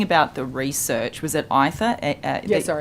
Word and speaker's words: Aither: Was it Aether? I pronounce it Aether, but perhaps it is sure. Aether. Let's go with that.